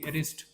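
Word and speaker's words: wrist: एक शब्द आहे बघा डब्ल आर आय एसटी रिस्ट ज्याला आपण मनगट वगैरे म्हणत असतो का त्याच्यामध्ये सुद्धा डब्ल आहे परंतु त्याचा आपण उच्चार करत नाही जसं की काय नाईफ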